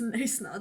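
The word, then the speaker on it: Knysna: No, we went to Neisna for a week. We didn't go to Neisna. Okay, it's Neisna.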